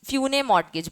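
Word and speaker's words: usufructuary mortgage: होता है फ्यू fuse फ्यू मॉर्टगेज बोलते हैं एसस साइलेंट इसमें फ्यू मॉर्टगेज और तुम्हारी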